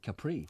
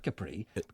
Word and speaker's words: Capri: changed the name of Capri. But Italians hate that, you know, because we always think the island of Capri is called Capri. But it's not Capri. It's Capri.